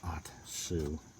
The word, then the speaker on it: Ohtsu: are producing this with their off-brand atsu it's pronounced atsu let's see where is it and it doesn't